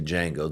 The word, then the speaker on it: Django: But, uh, cuz yeah, again, they did it even in the movie Django. The D is silent.